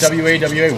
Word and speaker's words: Wawa: Is it spelled the way it sounds? Yes. W-A-W-A? Yeah, Exactly.